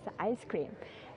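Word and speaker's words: ISS-CREAM: We call this experiment um ice cream. We spell it as SS cream and pronounce it as ice cream.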